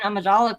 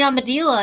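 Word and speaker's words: Amidala: freaking not about Canon that man can't can't pronounce Queen amadala correctly right like when he talks about it he's like Queen aadila and I'm like did he not watch the movies that's not how anyone says it right right it's man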